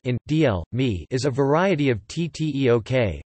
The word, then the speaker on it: Injeolmi: Injeolmi, Injeolmi pronounced in DL mi, is a variety of